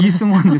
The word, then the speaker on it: 이승원: 저. 방금 이승원 사투리 원래 발음이 그래요.